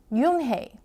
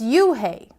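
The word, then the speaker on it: Unhei: it's spelled u n h e i it's pronounced Yoon hey oh it's you hey the boy said like you hey what about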